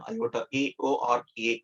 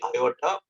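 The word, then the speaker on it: aorta: you can see here iota iota the r is silent here they used to call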